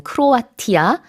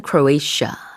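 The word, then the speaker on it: Croatia: 멤버가 쿨러에 이샤 에어 역시 발음 차이가 있죠 우리는 크로아티아 라고 하는데 영어에서는 크로이 샤 라고 합니다 자 그리고 유럽 화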